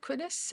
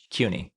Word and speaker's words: CUNY: Now, excuse my pronunciation. Is it Quinis? SPH? CUNY.